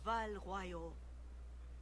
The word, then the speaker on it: Val Royeaux: Val Royeaux. That's how you pronounce it. Good people of Val Royeaux, hear me.